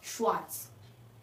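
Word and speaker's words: schwarz: Okay next black, black को हम German कहते हैं श्वार्ट्ज, श्वार्ट्ज एस सी एच शावी sound W ए आर जेड श्वार्ट्ज।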